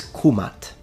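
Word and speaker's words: Kemet: to be precise then the correct and most likely pronunciation in ancient Egyptian specifically in classical Egyptian is kumat kumatu nominative kumata accusative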